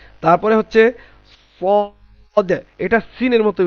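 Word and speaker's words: سين: Scene জিহ্বার আগা সামনের নিচের দুই দাঁতের গোড়া, যা এবং সিন একই জায়গা থেকে উচ্চারিত হয়।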